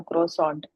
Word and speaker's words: Croissant: यानी आपने, जन्नत फातिमा ने ये वाला बोला था क्रॉसॉन्ट, और जो आयजा ने बोला था क्रॉसा, तो वो आपके पास जो वो ब्रिटिश इंग्लिश है, ठीक है। तो ये थोड़ा सा डिफरेंट होती है प्रोनाउंसिएशन में।